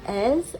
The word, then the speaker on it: Eze: All right, so at this stage, this is a vantage view from the botanical garden of Ezi, or Ez, as it should be pronounced.